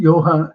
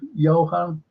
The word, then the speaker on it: Johan: It's like like a J, but it's not. I know it's not German because you know it's a silent J, isn't it? German, Johann, Johan, Johann.